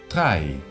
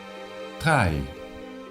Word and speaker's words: drei: Drei. Drei. Otra vez tenemos el diptongo EI, que se vuelve a pronunciar AI.